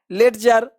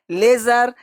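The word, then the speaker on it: ledger: बहुत सारे लोग इसको पढ़ लेंगे ब्रीडज, ब्रीडज, बडजेट, लेटजर, ऐसे नहीं पढ़ा, एडज, रीडज, ऐसे नहीं पढ़ना है।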